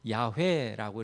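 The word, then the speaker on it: יהוה: 그래서 보통은 야회라고 이렇게 발음하는데 뭐 야 어떤 경우는 뭐 야회 어떤지 여호와 뭐 이렇게도 쓰는데 다 같은 말이고 히브리어로는 뭐 야회 이렇게 발음이 됩니다.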